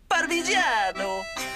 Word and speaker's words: Parmigiano: No, it's pronounced Parmesan, Ojo. Parmesan. In the Italian, it's Parmigiano.